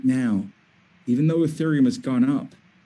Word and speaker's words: Ethereum: gonna spell that for you e t h e-t-h-e-r-e-u-m it's pronounced ethereum if you only buy one crypto